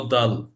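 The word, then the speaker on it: دال: দালের উচ্চারণটা হচ্ছে হলো দাল, দাল। দালের উচ্চারণটা যখন হয় এটা একটা লং সাউন্ড হবে, দাল, দাল। আমার অর্থাৎ আমার যে দুই দাঁত, দাঁতের যে দুইটা বাটি, এই দাঁতের সাথে আমাদের জিহ্বার যে আগাটা সেটা লেগে যাবে এবং বাংলায় সেটা পরিষ্কার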